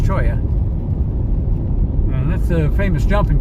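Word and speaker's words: cholla: All this stuff off here to the left, the cactuses are called choya. It's pronounced, it's spelled chola, but it's pronounced choya.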